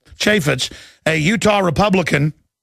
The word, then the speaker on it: Chaffetz: the impeachment option representative jason Chaffetz is how they pronounce it Chaffetz a Utah Republican says